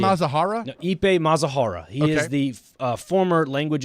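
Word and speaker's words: Ippei Mizuhara: No, I believe that's the right Ippei pronunciation. Mazahara? No, Ippei Mazahara.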